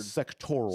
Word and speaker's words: sectoral: Am I using the wrong word? Sectoral. Sectoral. Thank you. Um I knew there was an extra syllable on the end of it.